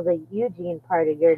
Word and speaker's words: Eugene: for says two hours it's eug not ug I don't know yes I did not realize that there's quite a lot of people who don't spell the Eugene part of your name